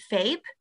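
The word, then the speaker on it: FAPE: owed to you so every child is entitled to um faith which is free and appropriate education rhymes with cape um this is based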